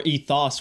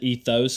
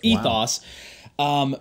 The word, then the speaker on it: ethos: word everyone pronounces it ethos because it has an O in it but really that sound in the Greek is really more of an AA kind of like low a lot of people